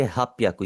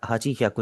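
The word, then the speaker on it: はっぴゃく: और 800 को आप बोलेंगे हाप्याकू। यह भी बिल्कुल ही चेंज हो गया है। इसके ऊपर भी आपने एक स्टार लगाना है। आप इसे पढ़ेंगे हाप्याकू। कभी भी आपने इसे हाजी हाजीियाकू नहीं पढ़ना।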